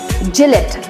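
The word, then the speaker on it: Gillette: pronunciation is quite easy it's Jill it G let Jill it very good the next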